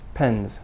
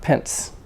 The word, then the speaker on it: pens: more of a s than its pens pens no books and pens so i need some notebooks and pens not pence you're not buying my